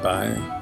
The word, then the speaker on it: boy: In County Down, where I live, you'd be more likely to hear the word boy, though it'll be pronounced by, as in, how's it going there, by?